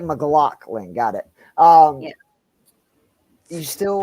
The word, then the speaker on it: McLaughlin: McClellan. McLaughlin? McLaughlin. Jaleel? Thank Yeah. you. Yeah. So it's like McLaughlin.